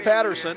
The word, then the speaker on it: Paterson: Patterson with 1 T. Looks like Paterson, but I guess it's pronounced Patterson.